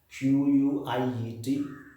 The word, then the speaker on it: quiet: have another the same almost on similar spelling q-u-i-e-t quiet and another q-u-i-t quit see it